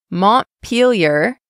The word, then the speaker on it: Montpelier: The next one is the only one I wasn't sure how to pronounce. Repeat after me. Montpelier, Vermont.